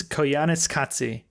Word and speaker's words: Koyaanisqatsi: first part of this trilogy, and that is Koyaanisqatsi.